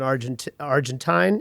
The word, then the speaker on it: Argentine: I like better than Argentine. Is that how you say it? Argentine barbecue? You could say both. Argentinian. It's both are acceptable.